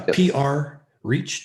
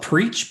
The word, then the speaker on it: PR Reach: uh uh preach yeah pr reach dot com so like all right yeah there's two hours there pres a lot of people call it preach but it's not preached